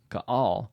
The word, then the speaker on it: Gaal: a very fitting name ka'al which rhymes with all in Hebrew ironically gaal's name means